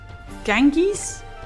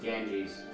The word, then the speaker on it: Ganges: what the bloody level's called um the river Ganges gang gankies Ganges genkis Ganges the bad weather